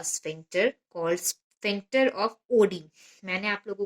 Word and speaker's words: Oddi: This is guarded by a sphincter called sphincter of ओडी।